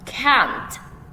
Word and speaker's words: can't: Now, can't. Listen. Can't. Elephants can't jump. Repeat after me. Elephants can't jump. Good. This one is longer and stronger, and you can hear the t sound at the end.